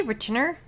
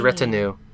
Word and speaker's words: retinue: You say retainer? Retainer. No, it was retinue. Retinue? It's not retainer. There's no R at the end.